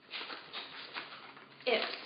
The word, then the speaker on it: ips: protein H all righty IPS rhymes with chips are incredible protein snacks